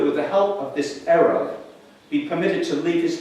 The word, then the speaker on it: eruv: of wall known in Jewish law as an eruv. It's spelled E-R-U-V, and it's a Hebrew word for mixing or blending.